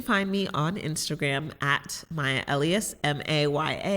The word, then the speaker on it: Maya Elious: me on instagram at my elias m-a-y-a-e-l-i-o-u-s i always have to spell it because people sometimes call me mayalicious i'm like only for